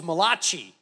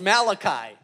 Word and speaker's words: Malachi: some of the names I thought it was mulashi until someone told me no it's Malachi and I'm a little